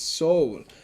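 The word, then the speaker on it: Seoul: what have i done it's soul and it's spelled s-e-o-u-l that's how it's spelled soul but there we are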